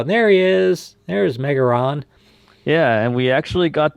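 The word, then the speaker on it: メガロ: Yeah, why does And it there's say Megaron? in Japanese, the name Megaron is actually, or Megaro, sorry, is the Japanese pronunciation, and R and L's usually get interchanged in the Japanese language.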